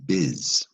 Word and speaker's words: business: in the beginning because you don't say bus do you say biz like business is how it's pronounced they may have spelled